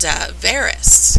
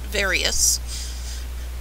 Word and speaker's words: Varys: name right either, but on the show they pronounce it Varys, so I'm guessing that is the correct pronunciation, not Various. It's Varys.